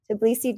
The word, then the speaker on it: Tbilisi: places uh Chelsea you're coming to us from tabilisi I don't want to say it to please see right is that how you say it could please see Georgia yeah Tbilisi Georgia um I know Pete you're in southern